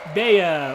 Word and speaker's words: Bea: A lot of people do pronounce it B, but in my brain, it's like, okay, if B is spelled B-E-E, it can't also be spelled B-E-A. Like, that doesn't make sense. A doesn't make an E sound.